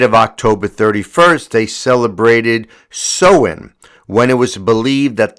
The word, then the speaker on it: Samhain: I would have said Samhain, but it's pronounced Samhain.